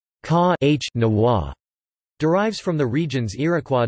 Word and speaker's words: Kanawha: The origin of the word Kanawha, pronounced Ka-H-Nawa, derives from the region's Iroquois dialects meaning waterway or canoe way, implying the metaphor transport way in the local language.